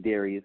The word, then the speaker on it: Darius: So that's spelled D-A-R-I-U-S, like Darius, but it's pronounced Darius.